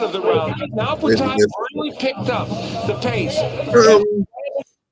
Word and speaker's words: Butayev: Ramzan Butayev with a brilliant Butayev.